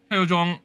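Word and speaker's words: Hyojung: How do I pronounce her name, Anita? You know this. 최호중. Hojeong. 최호중. Hyojong.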